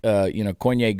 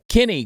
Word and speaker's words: Koine: And he said, well, it's Kenny Greek. And I said, no, it's Koine Greek.